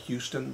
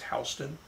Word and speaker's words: Houston: Spelled like Houston, but it's Houston.